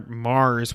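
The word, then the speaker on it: M∀RS: Zone of the Enders, speaking of Hideo Kojima, Zone of the Enders, the second runner, Mars, which is spelled MVRS, which is extremely confusing, is coming out on PS4, PC, and VR in 2018.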